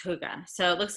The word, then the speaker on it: hygge: It's a Danish word, and I promise it's pronounced hygge.